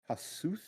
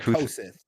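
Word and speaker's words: Kossuth: I believe it's pronounced uh Kasuth. I think I that said Koseth, Yeah, I know but I it's think not it's that.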